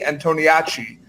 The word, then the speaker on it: Antoniacci: magazine columnist Antoniacci. welcome to Popternative. Thank you. And you actually pronounced my name correctly.